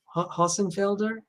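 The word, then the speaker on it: Hossenfelder: can speak germans fluently how how would you pronounce that name haasenfelder awesome wait a second i want to open it i would say sabine uh rossenfelder but um yeah it's beautiful to hear someone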